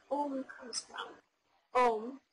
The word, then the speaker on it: Om: Om, pronounced A-U-M, Om, is the eternal sound of creation.